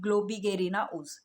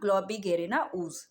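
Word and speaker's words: Globigerina ooze: इसका प्रोनाउंसिएशन एक बार फिर वापस देख लेते हैं। इसको बोलते हैं ग्लोबिगेरिना ऊज, ओके। ऊज इसको अलग कर लेना, ग्लोबिगेरिना ऊज, ओके।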